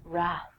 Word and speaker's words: wrath: Trek fans out there rap famously the Wrath of Khan I have no idea what the Wrath of Khan is but I will tell you that the W is silent so don't say it next one is right